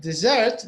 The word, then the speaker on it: dessert: in the beginning but desert the stress the word stress is in the end do you see the